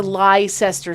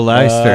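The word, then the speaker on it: Leicester: so we asked her how to get to lycester square oh last year right that's how it's spelled and my boyfriend ted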